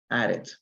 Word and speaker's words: added: Aquí pronunciamos la E, added. ¿Por qué? Porque tenemos aquí la D, added.